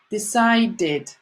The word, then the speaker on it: decided: need needed want wanted decide so decide although it ends in E but the sounded with is what we hear at the end is not easy to decide so we add Edie decide did decided let's start again want